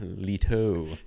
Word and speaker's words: Leto: the main character Jared Leo he's trying to get to her or something and like I forget did you pronounce his name Jared Leo is it not isn't it letto Gerard Leto like Cheeto Gary um but anyway